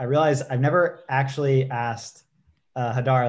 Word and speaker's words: Hadar: It's Hadar. Hadar. So emphasis on the first syllable.